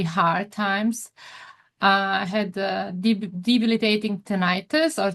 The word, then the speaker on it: tinnitus: I had debilitating tinnitus or tinnitus, how do you say? Tinnitus, yeah.